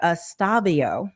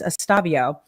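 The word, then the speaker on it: Estevao: So, Diddy's lawyer, Estavio, I think it's I was been pronouncing it wrong. It's Estabio.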